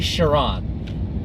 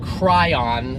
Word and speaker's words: Chiron: next is the bugatti chiron now I'm going to throw my friend James onto the bus here it is not the Bugatti cry on that is life in